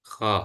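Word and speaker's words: خ: Kho. Oke. Kalau fathah bagaimana bacanya? Ho. Oke. Jadi bukan kha ya.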